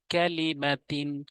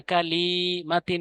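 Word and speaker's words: كَلِمَةٍ: এখানে যেন এরকম হয় না কালিমাতিন, এরকম টান হয় না, কেননা হরকতের উচ্চারণ দ্রুত পড়তে হয়, তানবিনের উচ্চারণ দ্রুত পড়তে হয়। একদম এক ভাবে পড়তে হবে, ক্যালিমাতিন, একসাথে, ক্যালিমাতিন, ক্যালিমাতিন, কেননা এখানে কোনো টান নেই।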